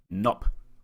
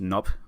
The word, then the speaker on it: Gnop: And another note, I've been told it's pronounced Gnop, but I prefer saying Gnop because it's more fun to say and funnier, kind of like how underpants is more funny than underwear.